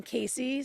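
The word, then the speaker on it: Cayce: And we launched in Casey, South Carolina. It's spelled C A Y CE.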